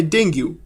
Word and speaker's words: Dengue: डेंग्यू pronounce dinghy also called break bone